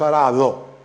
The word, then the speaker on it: arado: word develops into arado we pronounce arado with fricative but this change doesn't happen in initial and we have pratumba